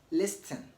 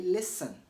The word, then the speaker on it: listen: the T in listen is silent it is not supposed to be pronounced never say listen say listen okay listen listen not listen also moisten moisten not moisten moisten not moisten okay if